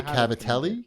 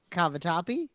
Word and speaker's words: cavatappi: on that one tonight right i made the cavitelli cavitelli is that how you say it cavatappi that's it or is that the animal one